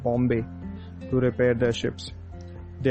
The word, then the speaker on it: Bombay: The Portuguese called the place Bom Bahia, meaning the good bay, where the English pronounced Bombay.